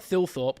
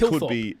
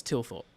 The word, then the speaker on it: Thilthorpe: It's a silent H at the start. Well, what happened to the silent H in the middle? Dan's best mate. It's Dan's best mate, Adam Thorpe. It's definitely not Thilthorpe, or is it Thilthorpe? No, I think it's Tilthorpe. it could be Thilthorpe. No, it's not. It's Tilthorpe. 100%.